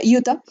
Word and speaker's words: Utah: que se escribe así, se escribe Utah, se pronuncia Utah, Nuevo México, Colorado, Nevada, California y les menciono todo esto en Estados Unidos.